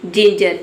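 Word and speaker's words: ginger: ई आई वाई हो तो वहाँ पे जी को आपको ज पढ़ना है। जैसे कि जिंजर, जिंजर में देख सकते हैं जी के बाद आई लेटर आया है तो यहाँ पे जी का जो प्रोनाउंसिएशन है वो ज हो रहा है।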